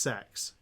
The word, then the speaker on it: CeX: did you know the shop cex is actually pronounced sex it was in one of their ads they